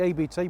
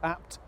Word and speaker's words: ABT: apt in the UK I say ABT but it's apt is the correct pronunciation of it as I'm reminded occasionally